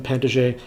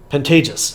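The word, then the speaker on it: Pantages: Errol Flynn Robert Mitchum pant or pentag pentag oh somebody told me how to pronounce this and I totally forgot um Pantagis thank you thank you there we go so he helped pantage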